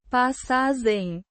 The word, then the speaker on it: passagem: Pah-sah-zhem. The G is a soft zh sound like in treasure.